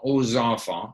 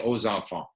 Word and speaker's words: aux enfants: So, je demande pardon aux enfants. So you have to say aux enfants.